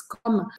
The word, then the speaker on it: comme: E a pronúncia é comme, paro no M, ou comment, e faço um som anasalado.